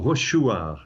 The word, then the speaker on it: Rochechouart: Or Rochechouart is probably the way the locals pronounce it, which is in central France.